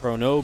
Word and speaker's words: chrono: i'm just talking about sometimes i say corona boosting instead of chrono boosting i don't emphasize the last o you know people have